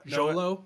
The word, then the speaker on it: Xolo: i don't know how to say his name xolo yeah jolo yeah i know who you're talking about i